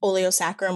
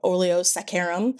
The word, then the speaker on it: oleo saccharum: I I when I first read about the oleo sacrum or oleo saccharum, depending on where you are, how you say it.